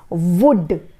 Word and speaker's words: would: मैंने बहुत बार ऑब्जर्व किया है ये चीज़, आप वुल्ड बोलते हो. इट इज़ नॉट वुल्ड, इट इज़ वुड. वुड क्या है ये? वुड. इसका प्रोनाउंसिएशन है वुड, ठीक है.